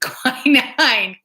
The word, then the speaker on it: quinine: Did you know that tonic was used as a medicine, and it has quinine?